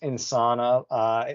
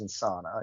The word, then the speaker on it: Insana: I think it's Insana. If there was a tilde on the end, maybe it would be Insania, but I think it is Insana, yeah.